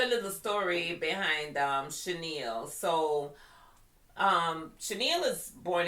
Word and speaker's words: Chanielle: That is actually my first name, Chenille. Thanks to my mom. Oh, let's tell a little story behind um Chenille.